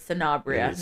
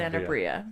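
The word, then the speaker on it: Sanabria: And we did learn how to say his name is Sinabria, not Sanria.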